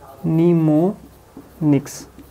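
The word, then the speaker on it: mnemonics: अक्सर इसको निमोनिक्स के नाम से भी जानते हैं, निमोनिक्स। ये जो M है वो साइलेंट है, इसको निमोनिक्स बोलते हैं।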